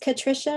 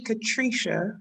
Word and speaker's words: Katricia: i'm doing well is is your name pronounced patricia is that right it's this is actually katricia patricia okay yes i